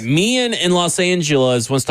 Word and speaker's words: Meehan: pronounced? Meehan? Meehan. Okay, I just want to make sure it wasn't like mine or something. Los Angeles. All right, Meehan in Los Angeles wants to talk about the 2-point conversion.